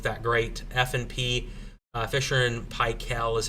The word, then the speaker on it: Paykel: F&P, Fisher and Paykel is how you pronounce it, I guess, as one viewer told me.